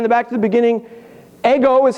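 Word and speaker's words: ἐγώ: at the end the back to the beginning ego is how you pronounce it in Greek does that look familiar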